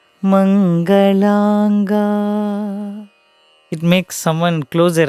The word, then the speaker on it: Mangalanga: Very first line has Shivalinga Mangalaanga. Just the 2 syllables in ma. Mangalanga.